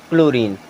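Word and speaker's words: chlorine: होगा एक धातु है यहां पर भी सी के बाद में एच आ रहा है लेकिन एच को हम उच्चारण नहीं करते हैं इसे क्या पढ़ते हैं क्लोरीन क्या पढ़ते हैं क्लोरीन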